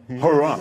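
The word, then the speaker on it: Huayra: The replacement for the Zonda is called the Hurrah. No, it's spelled H-U-A-Y-R-A, the Hurrah.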